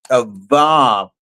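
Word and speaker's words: אב: it gives the word ab. Another way you could pronounce the bet is vet. Av And and so it's ab or it's av.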